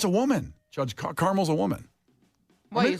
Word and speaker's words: Carmel: Are you sure it's not like Colonel? Because that's spelled weird. Or caramel. It's Carmel.